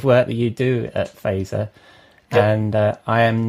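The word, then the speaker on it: Fazer: I am the Chief Strategy Officer at a branding agency in New York called Phaser. F-A-Z-E-R is how you spell it.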